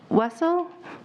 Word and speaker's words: Wessel: you thank you wessel i apologize if i pronounced it wrong that's better than weasel it's what some people say so you're good my name is wessel i live at 11